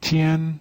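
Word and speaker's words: 天: the character heaven in chinese in mandarin it's pronounced tian this character became te in hiragana and this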